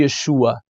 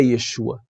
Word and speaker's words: Yeshua: fonte Por que não chamá-lo de yeshua se o seu nome é Yeshua né veio pro português como Jesus Ok mas por que não falar Yeshua vamos voltar pra fonte e aproveitar que o português tem a condição de pronunciar o nome o nome corretamente agora eu quero mostrar